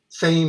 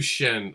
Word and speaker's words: Sehn: Well, that's to help people pronounce my name, because it's like, the H throws everyone off. And just like you pronounce sensational. Oh, okay. Sensational. Gotcha. So Shen, but people go, Shen or Sheen or Sane or whatever. I always do Shen.